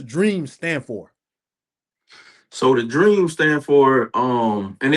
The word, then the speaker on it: DREEM: So the dream stand for and it's spelled DREEM.